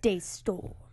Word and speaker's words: DeStorm: you say Daystorm, you have to say it like Daystorm.